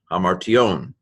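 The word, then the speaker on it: ἁμαρτιῶν: Mu alpha rho tau iota omega nu, hamartion.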